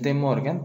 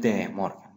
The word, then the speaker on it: De Morgan: Muchas personas les dicen las leyes de Morgan, pero en realidad se debe pronunciar las leyes de Morgan, ¿listo?